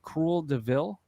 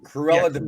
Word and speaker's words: Cruella de Vil: Cruel de Vil? Is that how you say it from Cruella de Vil. Cruella de Vil.